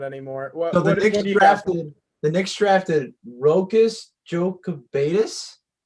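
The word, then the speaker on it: Rokas Jokubaitis: anymore the next drafted rocus joe cabetus is how you pronounce it guard from lithuania his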